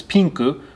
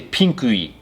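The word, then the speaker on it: ピンク: So pink, which is pinku, we would not say pinkui, we just say pinku.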